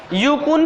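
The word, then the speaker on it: Yukon: उसके बाद यहाँ क्या दिख रहा है, यूकुन प्लेटू, यूकुन प्लेटू, मैप पर देखिए, हाँ यूकोन, यूकान, यूकुन, ठीक है, तीनों प्रोनाउंसिएशन किया जा सकता है, ठीक है।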